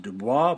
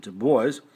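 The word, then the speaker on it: Du Bois: web de boys looks like it should be pronounced DUIs but he pronounced it de boys was a different story de boys was from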